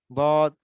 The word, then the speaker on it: ضاد: হ্যাঁ, 7 নম্বর মাখরাজ, জিহ্বার গোড়ার কিনারা উপরের মাড়ির দাঁতের গোড়ার সঙ্গে লাগিয়ে বদ দাদিদু। সবাই উচ্চারণ করেন হরফ বলা। ضاد ضاديدو আব ইদ উদ ضاديدو আব ইদ উদ।